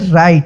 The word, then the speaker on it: right: जैसे यहाँ पे देखेंगे RIGHT, तो इसको हम पढ़ते हैं राइट। तो यहाँ पे देखिए GH जो है साइलेंट है, अन्यथा ग होता है,